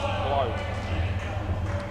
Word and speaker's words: Clow: Crow without the R. Replace it with an L. Clow.